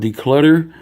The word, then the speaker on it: Decluttr: It's called Decluttr. It's spelled just as it's supposed to, except for without the at the end. Instead of an ER, it's just an R. You drop the E for Decluttr.